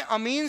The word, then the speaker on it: amine: ये अमीन है, अम्मा वाला, तो एमीन, जबकि वो अमीन है। तो अमोनिया को अपन क्या बोलते हैं? AMMINE, एमीन। प्रोनाउंसिएशन करेंगे तो कैसे बोलेंगे? एमीन। जबकि सिंपल ऑर्गेनिक केमिस्ट्री में अमीन होती है, अमीन, अमीन। ये एमीन है।